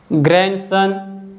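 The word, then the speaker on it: grandson: Rule number 1 कहता है the letter D is silent when it comes after the letter N. अगर जो letter D है letter N के तुरंत बाद आता है तो डी को हम नहीं बोलते हैं, डी साइलेंट होता है।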